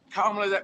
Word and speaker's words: Kamala: more senior gentleman, but Kamala, by the way, we worked on this. You have to emphasize the first syllable of her name. It's Kamala.